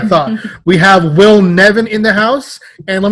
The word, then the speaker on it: Nevin: Now, does your last name rhyme with Steven or Kevin? Kevin. All right, boom. That's what I thought. We have Will Nevin in the house.